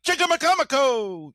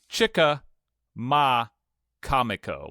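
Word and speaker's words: Chicamacomico: It looks like cha ma kamiko like comic o.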